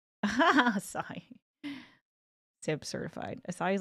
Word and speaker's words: Asahi: He's pronounced like Asai.